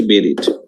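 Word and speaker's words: buried: আর স্যার বিউরিড বেরিড আচ্ছা ওটা হচ্ছে বেরিড ওটা কি সমাহিত হ্যাঁ সমাহিত এগুলা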